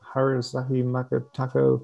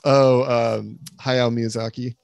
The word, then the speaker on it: Hayao Miyazaki: How do you pronounce his name? Haruzaki Makotako. Hayao Miyazaki.